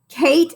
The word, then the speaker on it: Kate: And then we need an A and a T and a silent E to make the A say A.